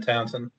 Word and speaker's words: Townshend: I'm in Townsend. With a silent H. Oh my God. Have what? Town, spell it for me. Oh my God. Town like Pete Townshend.